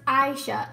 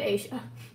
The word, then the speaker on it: Aishah: crazy by the way my name is pronounced Aishah oh sorry I said Asia bouzouki blacks it was